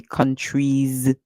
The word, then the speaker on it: countries: you don't hear countries you say countries Z so the S at the end make a sound like Z be always careful as